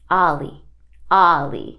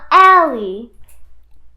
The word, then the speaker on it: Alli: seven eight oh and let me tell y'all how to pronounce my name ah me Olly Olly nah-ah nah-ah but ah ah ah are you Trey Songz Olly Olly yes not all me not Ali oh I mean you